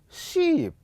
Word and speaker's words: sheep: This one is ship, and that one is sheep. Now, when you are communicating, if you fail to observe the time that you are going to spend in producing these sounds, you'll find the two words sound the same.